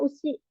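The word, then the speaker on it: 牛: Kanji sapi ya, usi. Kan ini Gyuniku kan dari daging sapi. Kalau kanji ininya aja ini dibacanya jadi usi ya, sapi.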